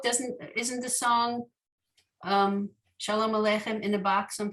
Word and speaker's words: shalom: that is i think the indication that the emphasis is switching to the first syllable rather than the later syllable right so shalom you see the ah usually in hebrew you don't put the emphasis on the beginning of the word you put it more toward the middle end of the word but